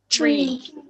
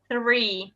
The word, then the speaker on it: three: you know uh to sound the number three tree yes okay um so that's um that sounds